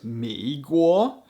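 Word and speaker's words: 美国: just based on sound the chinese word for country is guo so america is meguoa and england is ingua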